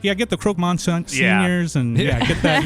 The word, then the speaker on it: croque monsieur: play the game, and she's like, no, it's pronounced Croque Monsieur, or she was saying it right.